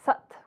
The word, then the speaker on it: Sat: Sat, when pronounced, is more like Sat, S-U-T, so you'll hear that when I demonstrate it.